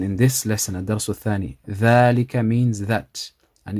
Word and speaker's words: ذلك: And ذلك, the alif after the dal, is pronounced but not written also.